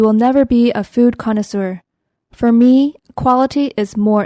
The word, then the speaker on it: connoisseur: connoisseur 이렇게 쓰죠.